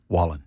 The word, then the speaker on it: Wallen: name for me Morgan what way Wallen Wayan Wallen there you go I am so bad at